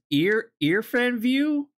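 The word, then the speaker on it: IrfanView: I like to use ear fan view. It's spelled weird, but like it's a really nice like photo viewer, and you can also resize and crop things really easily.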